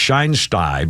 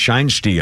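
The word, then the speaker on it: Shinesty: I thought it'd be pronounced shinsty, but it's pronounced shiny.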